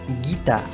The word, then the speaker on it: guitare: Ahora, si delante de esa E, I o Y queremos que se pronuncie como la G española, que les recuerdo es G, entonces hay que agregarle una U. Veamos un ejemplo para que lo entiendan bien. Une guitare, una guitarra. Une guitare, así se pronuncia en francés. Si no estuviera esa U, aquí entre la G y la I, se diría une guitare. Une guitare, lo cual es incorrecto.